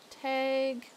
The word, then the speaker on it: Tadhg: Pronounced like Faye. Okay. So Tag Lions.